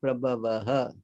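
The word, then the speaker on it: prabhavaḥ: Aham sarvasya prabhavaha. Aham sarvasya prabhavaha. You see the H, the last H there with the dot? Yeah. yeah. That is pronounced as ha.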